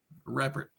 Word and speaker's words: Reppert: So, despite my Instagram story and my perfect pronunciation, please tell us your last name. Reert. You nailed it the first time.